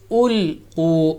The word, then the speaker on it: أُلْقُوا: For example, here إِذَا أُلْقُوا is ulqu. On lam, you don't make a bouncing sound.